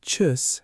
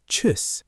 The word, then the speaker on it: tschüss: The U is like saying E, but you round your lips into an U shape at the same time. Try it. E, now round your lips, U. Tschüss.